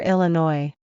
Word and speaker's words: Illinois: you don't pronounce s at the end of arkansas or illinois a and b such